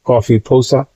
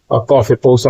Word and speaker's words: COFEPOSA: इसको जैसा मैंने कहा that may be pronounce S कॉफी पोसा कॉफी पोसा आप इसको बोल सकते हैं Google प्रोनाउंसिएशन देखेंगे तो ये समझ में आएगा इसको बोलते हैं सी ओ एफ ई पी ओ एस ए भाई लेकिन आप अब्रविएशन